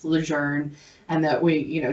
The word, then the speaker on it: LeJeune: and the fact that it's not actually pronounced legend it's pronounced legend and that we you